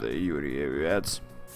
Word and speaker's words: Юрьевец: славный город Юн Юрьевец Видимо да читается правильно славный город юрие вец катает на своём поезде